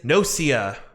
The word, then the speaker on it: Gnosia: and that game is no sia i imagine that's how you pronounce imagine the g is silent like in gnome yeah that takes yeah